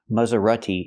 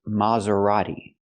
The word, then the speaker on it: Maserati: So the first syllable is more open. Not ma but ma. Use the open sound ah like hot and stop. Ma. Maserati. And the t is not pronounced like t. It's pronounced d. A fast d. Maserati. Not Maserati, but Maserati. Use the fast D.